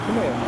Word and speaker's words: Primera: Did I pronounce that? Primera? Primera? Yeah, Primera.